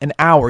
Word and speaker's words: hour: like in the word hour now hour actually starts with an h but it's silent an hour you don't pronounce the